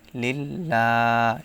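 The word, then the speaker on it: لِلَّهِ: কি আছে দেখেন আলহামদুলিল্লাহি লিল্লাহ এখানে লা উচ্চারণ হবে এর কারণ হচ্ছে আল্লাহ শব্দের লামের পূর্বে জের আছে জের থাকলে লা উচ্চারণ হবে কিন্তু যদি জবর বা পেশ থাকে তাহলে ল উচ্চারণ করতে হবে লিল্লাহি রব্বিল আলামিন এখানে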